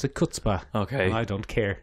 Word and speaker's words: chutzpah: It's chutzpah. Is it? Well, I pronounce it chutzpah.